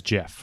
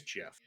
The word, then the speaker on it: GIF: every instance of english words where you have gi the g is soft so if you're an english speaker and you see gif written and you don't know what it stands for the natural pronunciation is jeff i'm gonna i'm gonna